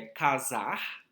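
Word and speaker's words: Quasar: Que faz essa brincadeira com o nome do perfume, que é casar, né? Mas é Q-U-A-S-A-R, mas a pronúncia é casar.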